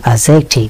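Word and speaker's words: adjective: এই যে মানুষকে আমরা বিভিন্ন ভূষণে ভূষিত করি, এটাই হচ্ছে অ্যাডজেক্টিভ। অ্যাডজেক্টিভের ডি এর উচ্চারণ হয় না।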